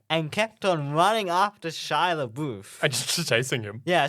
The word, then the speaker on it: Shia LaBeouf: was ever on the set, like first scene, Shia LaBeouf.